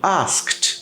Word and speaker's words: asked: Por que eu botei esses três? Porque também já trouxe esse tipo de conteúdo aqui, que era a pronúncia do ED no final dos verbos no passado, que após uma consoante explosiva, que é o K e o P, por exemplo, o ED tem som de T. Então os três casam ali em termos de pronúncia, porque asked, helped, next, tá?